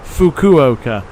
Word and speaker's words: Fukuoka: Fukuoka.